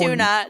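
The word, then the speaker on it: Tone: u n a no there was a Swedish name tuna and it was spelled likeone tuna that was an early we laughed so hard we couldn't breathe and it it was spelled t o n e I think and it was pronounced tuna so this could be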